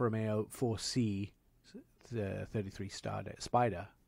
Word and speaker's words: spider: 4c the 33 star spider spider which means is italian for convertible convertible is it italian yeah except the germans like to spell it with s-p-y-d-e-r which is incorrect by the way it's s-p-i-d-e-r they just